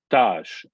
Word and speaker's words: tâche: Sometimes the sign will change the signification or the pronunciation of a name. So task is in French tâche, but you have to be careful.